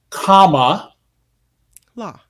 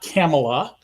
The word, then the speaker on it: Kamala: keep mispronouncing perhaps intentionally comma la la there's a button with a comma and La it's not camela no Camella I got